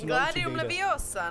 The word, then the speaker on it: Wingardium Leviosa: Především slabiku Gar vyslovte zřetelně a dlouze. Proneste zaklínací formuly zřetelně a nahlas. To řekni. 3, 2, 1. Wingardium Leviosa.